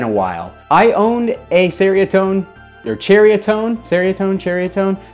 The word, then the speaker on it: Ceriatone: while i owned a seriatone or chariotone seriatone cheriatone there's always a debate on how it's pronounced but i believe that nyx said that it is cheriotone i've owned the cheriotone